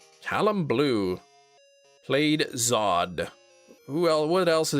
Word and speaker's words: Zod: General Zord. Zod.